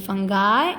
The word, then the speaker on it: fungi: Okay, इस word की pronunciations दो तरह से हैं, फंगाई एंड फंगी.